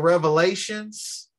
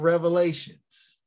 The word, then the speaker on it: Revelation: when you hear somebody say the Book of Revelations plural that's incorrect it's pronounce the Book of Revelation not Revelations okay I just wanted to get that out